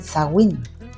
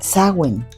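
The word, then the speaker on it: Samhain: el el uno se escribe como y se pronuncia como Sheim, pero ellos en su dialecto les llaman el Sagin. Sagn, Sagwin.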